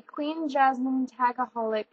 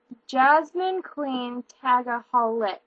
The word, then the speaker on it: JasmineQueenTagaholi: Wilson Life, and today I'm going to be doing a Queen Jasmine Tagaholic tag. I don't know if you guys have seen Queen Jasmine before. I think I said her name wrong. It's JasmineQueenTagaholi, and I will write that